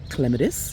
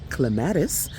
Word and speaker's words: Clematis: Here we have some Clematis, or you might pronounce it Clematis.